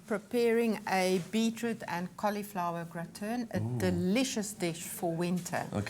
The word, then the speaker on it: gratin: Today we are preparing a beetroot and cauliflower gratin, a delicious dish for winter, and also very healthy. So we're going to have lots of fun making a gratin because I've seen that word spelled G-R-A-T-I-N and